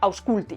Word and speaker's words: aŭskulti: in English, that is, a semivowel or semiconsonant to form diphthongs, like our u that we have in the word guapo: We don't say gu-apo, we say 'guapo', like, for example, aŭskulti… Ah, 'listen', right?